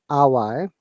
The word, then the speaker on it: hour: HO, if you find HO, most of the cases H is silent, yeah? And HO cluster like hour, one is R is incorrect pronunciation.